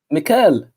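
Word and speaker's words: מיכאל: How is it pronounced in Hebrew, please? Mikael.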